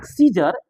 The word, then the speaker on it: scissor: अब देखिएगा, सीजर, SCISSOR, सीजर, आपको एससी कॉम्बिनेशन में सीजर में CSIC हो गया जर।